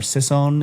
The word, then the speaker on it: Sisson: There's a guy by the name of Mark Sisson, or Sisson is how you say it.